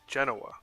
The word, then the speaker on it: Genoa: yeah wrong way or not gen Genoa I think is how you say it Genoa we're going there